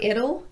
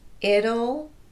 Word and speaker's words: it'll: other two words are ital and waddle and they're pronounced the same way with a tapped T and an inserted schwa vowel before the L it'll waddle these words end